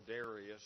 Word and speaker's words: Darius: to make dasas feel good about himself or Darius there's two ways people pronounce it uh to make this guy feel